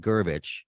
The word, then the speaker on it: Gervich: Let me first and say welcome to the Gervich. Am I pronouncing that right? I should have asked you off the air. Yeah, just, plain and simple. No, All but right. Gervich is correct.